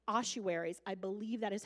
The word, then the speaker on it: ossuaries: families get buried together the boxes are called ossuaries I believe that is how you say that